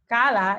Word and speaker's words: CALLA: english through content so kala stands for the cognitive academic language learning approach it is pronounced as kala even though unfortunately if